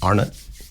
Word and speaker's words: Arnott: Today I have my former director and fellow actor Joseph Arnut.